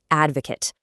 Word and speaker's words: advocate: Now, this word is unique because its pronunciation actually changes depending on exactly how you use it. When used as a noun, representing a person, we say advocate.